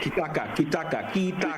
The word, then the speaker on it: Kitaka: Kitaka. Three syllables.